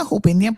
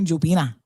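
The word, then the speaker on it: Jupiña: about, I want a Hopina, please, por favor. No, that would be the Spanish people. That, I mean, it is a Spanish name, but we don't pronounce it. We say Jopina.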